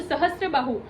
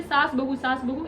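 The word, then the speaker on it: सहस्त्रबाहु: के लोग मान लो, जब प्रोनाउंसिएशन सही नहीं होता है, सहस्त्र बाहु ऐसे कौन बोलेगा, है ना, तो वो धीरे धीरे ऐसे करके क्या, सहस्त्र बाहु ऐसे करते करते सास बहु ऐसे हो गया मंदिर, ठीक है।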